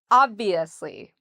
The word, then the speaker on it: obviously: have the V, ob-V, and notice how my lips go under my teeth, ob-V, asli, obviously, obviously. So that's how we say this word, obviously. So the strength is on the first syllable.